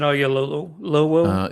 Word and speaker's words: Oyelowo: David Oyelowo. Yes. I'm glad you said that. I have no idea how to pronounce that.